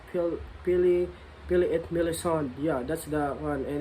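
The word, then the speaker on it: Pelléas et Mélisande: I don't know if I'm correct in pronouncing it, but it is French. It's kind of hard though. Yeah, it is French, but I am trying my best to pronounce it like Pili et Melisande.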